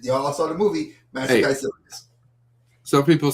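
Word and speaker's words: Kaecilius: You know how to pronounce it. It's Caecilius. Caecilius.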